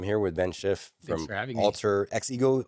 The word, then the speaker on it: AltrXego: with Ben Schiff from Alter X ego alter ego. Yeah sometimes we joke around and we say the X is silent just just a master thief but you know uh yes alter ego.